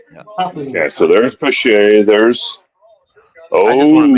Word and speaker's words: Pache: However you pronounce it? Christian Pache.